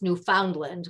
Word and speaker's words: Newfoundland: from Newfoundland to Alaska actually that's Newfoundland but nobody pronounces it that way we couldn't have flown